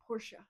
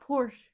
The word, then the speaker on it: Porsche: knows how much else, because they pronounce it Porsche, That's crazy. not Porsche. Porsche.